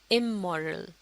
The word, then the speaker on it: amoral: اگلا لفظ، یہ ہے امورل۔ یہاں آپ اسپیلنگ اور آواز کا فرق دیکھ سکتے ہیں۔ پہلا لفظ تھا اے مورل اور یہ ہے امورل، اور اس کا مطلب